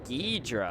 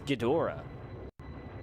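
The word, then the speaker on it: Ghidorah: no it's notra yep wait gidra I swear it's gadora I've been saying it wrong my entire life there it is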